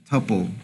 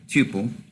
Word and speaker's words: tuple: is what's called a tupple or Tuple I think more people pronounce it as tupple I pronounce it as